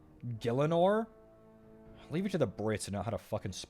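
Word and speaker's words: Gielinor: I don't think that's how you pronounce it. Wait, it's How would you pronounce it? I've always said Galenor. G I E L I N O R. Gillanor.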